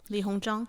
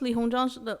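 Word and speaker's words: Li Hongzhang: with china china's diplomat lee hong shang hong li hong jong okay okay but what she said splitting up the tonkin area between french and chinese area of control what's what's li hong jong what's the last i don't want to get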